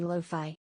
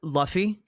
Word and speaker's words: Luffy: Revolution would be Loi. Uh, it's pronounced Luffy.